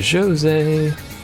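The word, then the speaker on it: Djose: we're gonna do is go to jose yes you have to pronounce it that way by the way the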